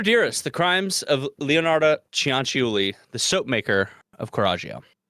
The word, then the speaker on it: Cianciulli: So, by the way, her name is Leonarda Cianciulli. That's how you pronounce that. Cianciulli. Cianciulli. Okay.